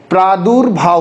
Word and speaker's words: प्रादुर्भाव: बात समझ में, प्रादु पहले लगी है, फिर र का साउंड आएगा, फिर भार, प्रादुर्भाव।